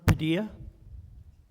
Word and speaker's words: Padilla: Padilla. Padilla. Yeah, I think the double L is pronounced as a Y.